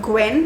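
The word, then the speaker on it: Gwyn: is the story of Gwen or I really hope that's how it how you pronounce it it's a g w y n so Gwen and Wells and Gwen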